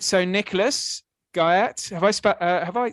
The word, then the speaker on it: Guyatt: Um and the last name is Guy. Like the guy at the porter's lodge.